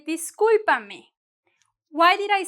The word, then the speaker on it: discúlpame: Now, we're gonna go to disculpa and, oh, discúlpame, con acento en la U.